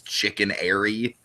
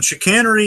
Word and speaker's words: chicanery: when I read it I just read it as chicken Airy and so I was like oh it's chicken but no obviously it's not spelled like chicken I'm an idiot okay